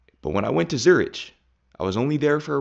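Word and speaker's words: Zürich: It's not Zurich, it's Zurich, Zurich in German, and I don't want to go about my name.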